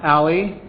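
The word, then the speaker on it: a11y: that dealt with the accessibility so it is pronounced Ali I did not know that until reactor Ali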